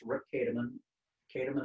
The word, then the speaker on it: Kahdeman: a public profile that i have it's rick kataman katum and it's spelled k-a-h-d-e-m-a-n and on my public profile you'll